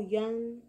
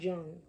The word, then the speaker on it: Jung: you pronounce his name Carl Young it's not Jung when you know you